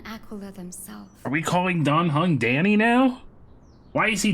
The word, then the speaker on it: Dan Heng: We've always called him Dan Heng. I guess it is Dan Heng. It's always been pronounced Dan Heng.